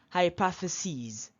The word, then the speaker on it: hypotheses: let's see analysis analysis be careful not analysis be careful because these are foreign prels okay not analysis not basis here not crisis but EAS they are foreign plurals foreign nouns analysis analysis basis basis